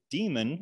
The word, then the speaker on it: daemon: um that is that the demon or damon depending how you say it that runs the